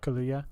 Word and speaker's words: Kaluuya: Did you guys see, speaking of Judas and the Black Messiah on today's episode review, Danielle Kaluuya? I think that's how you pronounce it. Yeah, Kaluuya.